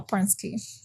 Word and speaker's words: Pransky: And the Pransky thing, that's how you pronounce it? Yeah, Pransky.